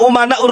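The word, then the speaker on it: أمناء: Kemarin menyampaikan begini, Bahar bin Smith, al-ulama umana'ur rusul, tapi bacanya al-ulama amana'ur rusul. Saya katakan salah. Kenapa? Karena di sini umana, jamak taksir ya.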